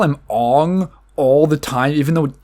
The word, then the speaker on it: Aang: Avatar like they go halfway they call him Ong all the time even though it's Aang it